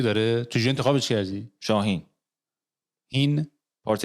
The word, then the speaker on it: HEEN: آره گفتم مثلا HIN یه جوریه، HEEN یا میتونست HEAN باشه. آقا وقتی اینو میدونی تلفظت هم برعکس میشه، هین.